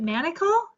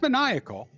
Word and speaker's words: maniacal: me cue it up is it manacle no no it's maniacal but he pronounces that manacle shots and that might